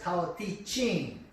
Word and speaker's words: Tao Te Ching: The Book of the Way is pronounced as a Chinese language as Tao Te Ching.